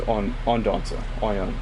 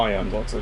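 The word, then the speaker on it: Odonata: Okay, so just Ondanza. Not Ion-Danza, just Ondanza.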